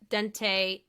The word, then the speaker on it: dentate: I used that to remember how to say it. Because the first time the guy said it, I heard al dente.